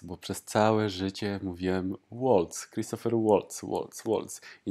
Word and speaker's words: Waltz: I to Amerykanie przyzwyczaili ludzi do takiej wymowy, a to jest austriacki aktor z niemieckiego pochodzenia tak naprawdę. I nazwisko zdecydowanie powinno się wymawiać Waltz, Christoph Waltz.